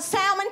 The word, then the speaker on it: salmon: thinks i'm uppity because i know the ellen salmon is silent they gonna call it salmon till they die so y'all i had